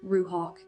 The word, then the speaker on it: Ruach: Through that fractured audio, I learned the name of my guide, pronounced Ruhawk. In Hebrew, it would be spelled R U A C H and means spirit, breath, and wind.